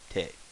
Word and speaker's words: て: This is te as in tape or taint.